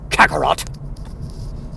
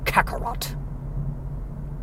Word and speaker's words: Kakarot: Kakarot. Well, it's got 2 C sounds, Kaka and then rot, and then the T.